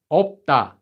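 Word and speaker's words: 없다: For this one, you can ignore this letter. This one's just pronounced as op. Now we have a base consonant. Sorry, we have a consonant followed by a base consonant here. So this one becomes da, opda. So this word is pronounced as opda.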